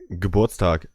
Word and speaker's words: Geburtstag: Geburtstag.